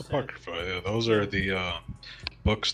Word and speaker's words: Apocrypha: How do you pronounce that? Apocrypha, yeah, those are the books that most Christian denominations do not recognize, but Ethiopia does because they accept every book.